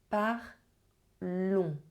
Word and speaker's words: parlons: This one is a nasal sound, so you do not pronounce the N, you do not pronounce the S, is If you struggle